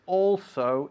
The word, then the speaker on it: also: Before we start though, I want to remind you and everybody at home that also is not pronounced also, okay? It's all so. Look at my mouth, all, okay?